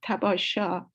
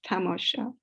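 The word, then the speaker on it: تماشا: him means sightseeing but he could not pronounce the word probably properly he said tabasha instead of tamosha and bahala uses this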